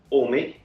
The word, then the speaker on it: Ohme: i partly see it as ohme but also omi is that the right pronunciation of it those pronunciation is all me and i guess it derived from home i'm